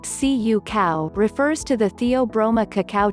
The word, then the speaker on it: cacao: in our Afghan biscuits cacao pronounced Cu cow refers to the Theobroma